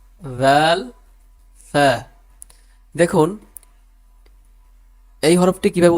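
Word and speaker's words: ف: দ জাল ফ্যা দেখুন এই হরফটি কিভাবে উচ্চারণ করতে হয় নিচের ঠোঁটের পেট সামনের উপরের দুই দাঁতের আকার সঙ্গে লাগিয়ে এভাবে উচ্চারণ করতে হয় দেখুন ফা এই হরফটি দেখুন ফা এই কয়েকটি হরফ যে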